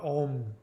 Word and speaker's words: Om: know the sacred mantra ohm which is actually pronounced Ong o that before that